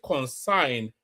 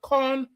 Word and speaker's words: concern: They will call concern, they will call it consign. Concern is a concern. It's only two syllables.